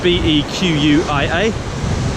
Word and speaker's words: Bequia: And Bequia, just so you go away and Google it, it's actually spelled B-E-Q-U-I-A, pronounced Bequia.